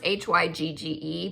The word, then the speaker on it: hygge: it came with a little stocking so it's pronounced h-y-g-g-e but it's or it's spelled uh h-y-g-g-e but